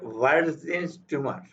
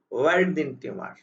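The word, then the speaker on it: Warthin: এরপরে আছে ভার্জিনস টিউমার। এটা ভিউ না, ওয়াও না, ওয়াও মাঝখানে ওয়াও, আমরা উচ্চারণে ওয়াও এই ধরনের ওয়ার্ডিন টিউমার, ওয়ার্ডিন টিউমার।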